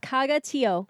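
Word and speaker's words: Caga Tió: Caga Tio.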